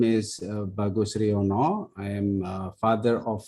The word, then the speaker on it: Bagus Riyono: Bagus Riyono, who is the president of the International Association of Muslim Psychologists.